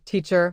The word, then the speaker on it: teacher: For example, teacher has stress on the first syllable.